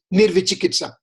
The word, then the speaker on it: nirvichikitsa: I mean, you try to speak this word a couple of times and your tongue will be twisting, you won't be able to pronounce properly, but it's nirvichikitsa.